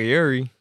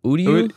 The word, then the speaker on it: Uryu: I don't know who was in the hoodie, but I thought that looked like Yuri, right? Yuri? Or what am I calling it? Ryu's son. Right? Are you talking about Uryu?